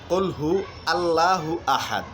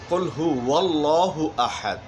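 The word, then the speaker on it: قُلْ هُوَ اللَّهُ أَحَدٌ: ভুলটি হচ্ছে কুল হু আল্লাহু আহাদ, আর উচ্চারণের সঠিকটি হচ্ছে কুল হু ওয়াল্লাহু আহাদ।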